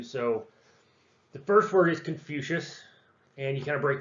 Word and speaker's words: Confucius: the first word is confucius and you kind of break that down con is in con man few as in future shush as in hey you it's back to class shush so confucius when you put them